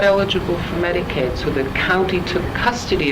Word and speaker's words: Medicaid: that fraud going on Medicaid rhymes with lemonade it's real easy to